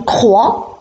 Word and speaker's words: croix: par exemple le x je donne un exemple croix avec mx à la fin le hic se prononcent pas 2 2 vous avez x à